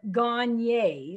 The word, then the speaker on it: Gagne: You know, you say my name, Gagne. Like when I leave, you're going to go say, hey, she's gone.